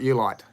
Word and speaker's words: oolite: It's O-O, but it's pronounced U. Ulitic, opal. Let's break that down. Take the opal out, you've got Ulite.